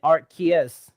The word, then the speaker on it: Arceus: I looked into it, and Arceus is actually the proper English pronunciation. Well, Arceus.